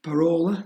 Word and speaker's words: Parola: And by default, this at the top, use a parola, that's how you pronounce it, hardware, has a 1 on it, and all the rest are zeros.